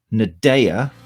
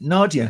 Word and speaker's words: Nadéah: So I shall give her a little countdown and then bring up Nadéah with this syllable on the last bit.